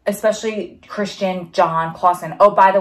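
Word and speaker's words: Krystian: Which actually I just saw on YouTube, a YouTuber, her name is Christian, but the K-R-Y-S-T IAN or something like that. And she pronounces it Christian.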